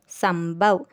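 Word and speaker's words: संभव: அதாவது இம்னு அந்த டாட்டை உச்சரிக்கணும். அப்போது ச இம் ப இவ் சம்பவ். அது ஏன் இவ்வுன்னு சொல்கிறோன்னா இது three letter word. Three letter வேர்டில் தேர்ட் லெட்டரை டாட் வச்ச எழுத்தா நம்ம படிப்போம். ஸோ இதை வந்து சம்பவ் அப்படின்னு சொல்லணும்.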